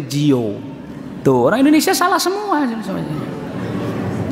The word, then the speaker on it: Dior: ternyata merek branded yang orang Indonesia ngucapinnya salah semua Jio Dior Bu di or itu bacanya Jio tuh Indonesia salah semuanya